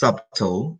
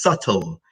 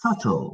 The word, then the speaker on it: subtle: so nobody's not pronounced subtool it's pronounced subtle the B is silent so it's subtle when you say this